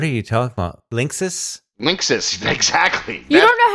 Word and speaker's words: Linksys: But is it Linsky's or Linskys or I have no idea how you pronounce that company's name.